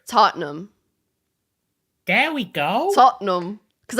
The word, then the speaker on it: Tottenham: Tottenham. Start with that one. Well, that is miles off. It's Tottenham. Yep. Tottenham. You're getting further away again. Wait, say it again. Tottenham. Yeah, it's just so there's two no syllables. Inham. It's just Tottenham.